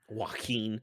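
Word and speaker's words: Joaquín: Joaquin.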